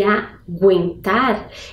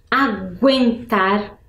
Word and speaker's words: aguentar: Água, aguentar. Percebam que água e aguentar, eu consigo perceber o som da letra G.